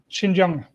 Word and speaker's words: Xinjiang: Wait, how do I pronounce that? Xinjiang.